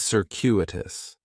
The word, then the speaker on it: circuitous: Circuitous has 4 syllables, and there's a few things going on with the pronunciation. In the first syllable, that C is going to have more of an S sound, circuitous. The stress is going to be on that second syllable, and that CU is kind of like you're saying the letter Q, circuitous, circuitous. Circuitous is talking about a